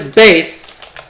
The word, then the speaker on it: bass: male singing wants to spell the same as a fish but it's pronounced differently what is bass that's a correct response